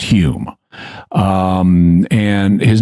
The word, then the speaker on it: Home: steroids yeah so Dei his name is spelled uh home but it's pronounced Hume um and his name was Daniel dunglas Hume he was a 19th